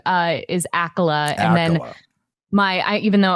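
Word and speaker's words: Accola: well my my maiden last name uh is akola and my I even though I'm divorced I'm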